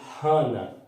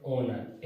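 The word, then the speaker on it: honour: इस प्रकार कुछ वर्ड्स हैं जिसमें एच साइलेंट, जैसे ये है, तो इसको हानर, हानर ना पढ़े ओनर, एच जो है वो साइलेंट है, इसलिए आप ओनर पढ़ें, और ओनर पढ़ेंगे तो इसमें क्या आएगा, एन आएगा।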